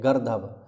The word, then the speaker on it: गर्दभ: खर गर्दभ इसकी पर्या इसका जो उच्चारण है यही है गर्दभ अगर आप इसे गर्द पढ़ोगे तो गर्द लिखोगे और गध पढ़ोगे ठीक है तो फिर लिखोगे भी गध तो गलत हो जाएगा बैशाख नंदन रास धूसर